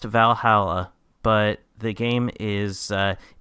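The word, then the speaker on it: VA-11 Hall-A: who is looking to by the game it's pronounced Valhalla but the game is it's spelled uniquely it's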